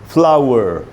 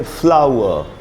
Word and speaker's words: flower: You have to role your tongue if you want to pronouns are in American English. American English में इसको बोलेंगे फ्लावर, British English में बोलेंगे फ्लावर।